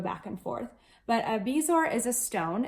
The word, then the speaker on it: bezoar: and B sores or in the movie they say bezoars but on if you google the word bezoar the pronunciation says bezoar so bezoars or bees or however you want to say it basically it's